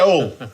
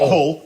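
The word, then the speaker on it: Hull: go see near near all all pronounce pronounce without H not whole all city of culture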